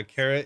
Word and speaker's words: caret: Carrot support? How do you say that? Carrot? Yeah, caret.